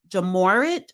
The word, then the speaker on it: Ja Morant: the show um I wanted to talk about jamorat um just uh that's how you pronounce his name the basketball player jamorant John